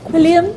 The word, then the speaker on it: Quilliam: Quilliam International. I got the pronunciation finally.